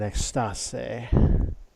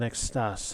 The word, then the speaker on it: Extase: The sign outside identifies it as Le Gastronome en Extase. You wouldn't pronounce the final E, but other than that, your pronunciation was really good.